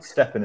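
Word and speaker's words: STEPN: But so for anyone who is interested, Steppen is spelled S-T-E-P-N, and it's worth checking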